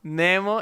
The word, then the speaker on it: Nemo: Like, you pronounce it, when I listen to you, it's like Nemo. Nemo. In Swiss German, I say Nemo, but in English, I say Nemo.